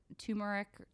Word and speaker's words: turmeric: garlic mushrooms soybeans spices like turmeric or tumeric how do you say it Lori Tamara I say turmeric turmeric turmeric I think I usually say but I hear people say tumeric everyone pronounces it differently so I probably pronounce it differently every time I say it - I know we